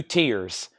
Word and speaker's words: Tyr: then I got two tiers tyr I've always said tier um unless somebody has a different pronunciation these include lyric inserts